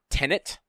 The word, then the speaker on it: Tenet: that backwards can you say the name again tenet all right you said it right that time